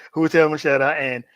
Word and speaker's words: Mascetta: So, first question I always ask my my first time guest is, who is Taylor Machetta? See, I said it right this time. Got it right. Who was Mashetta and how did you get into uh the